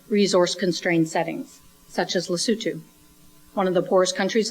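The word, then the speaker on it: Lesotho: in a country called it spelled like loto but it's lutu it's a landlock country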